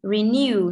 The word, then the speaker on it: renew: And renew, trọng âm sẽ rơi vào new.